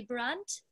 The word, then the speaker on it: Brandt: Am I pronouncing it right when I say Brandt?